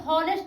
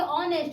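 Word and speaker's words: honest: उसी प्रकार से इसको बोलेंगे हॉनेस्ट नहीं, इसको बोलेंगे ऑनेस्ट। इसको में जो एच है ना एच, एच जो है साइलेंट हो जाता है।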